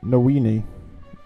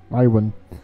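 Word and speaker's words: Niwen: The light from the wells runs all through Nowini. Joins us here. Nywin. I think it's Nywin actually, how you pronounce it.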